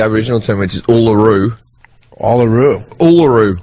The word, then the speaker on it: Uluru: Uluru. Uluru.